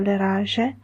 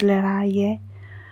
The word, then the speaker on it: Leraje: The pronunciation of the name appears in different ways. Sometimes, as I've said, as you see it on the cover, Leraje, the way I pronounce it, but you can pronounce it Leraje or Leraje.